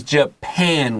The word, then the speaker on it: Japan: This is Japan with an A, short A, like a pan, 锅子.